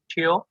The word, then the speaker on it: Teoh: Here it's normally Teoh. Nope. Teoh, but when I was in the States, normally they would call me Teoh. So the E has been removed when pronouncing my name.